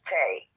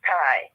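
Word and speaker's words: Tae: this knowledge um the our state named Tai t-a-e is not pronounced Tay uh-uh it's pronounced Thai and and I want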